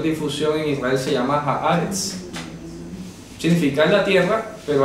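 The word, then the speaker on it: הארץ: Resulta que la palabra Haaretz en hebreo, Haaretz, se pronuncia Haaretz, significa literalmente la tierra.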